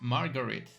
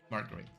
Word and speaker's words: Marguerite: Name pronounced Marguerite. Marguerite.